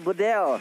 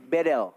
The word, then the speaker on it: BDL: Dari mahasiswa Turki, dia bilang, Bang Kornet bacanya bukan Bedel, jadi tapi E-nya dibaca semuanya E. Jadi Bedel.